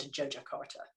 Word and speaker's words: Yogyakarta: It looks like Yogyakarta, but it's actually said Yogyakarta.